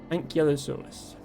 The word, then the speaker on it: Ankylosaurus: Ah, thank you for clarifying the pronunciation of this guy. Ankylosaurus.